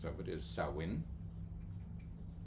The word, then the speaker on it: Samhain: for a brief moment it's not Sam Hayne no the most prominent and most um used pronunciations of it is sawin like a sa s so and in in sawin or saen and they can be